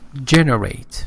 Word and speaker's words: generate: Generate, the first syllable is stressed.